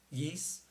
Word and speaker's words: Ys: I've always pronounced it Wise, although some people do pronounce it Yeast.